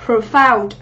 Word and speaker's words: profound: Tính từ mình đọc cho cô giáo là profound. Profound thì trọng âm của chúng ta dâm tiết thứ hai.